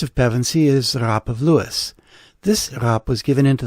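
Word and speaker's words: Lewes: thought it was pronounced luz but no it's pronounced as two syllables like how comedian and actor jerry lewis's last name is pronounced the name derives from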